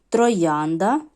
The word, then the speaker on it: троянда: вже з вами розбирали троянда троянда 3 склади наголос падає на другий бачимо що всі тверді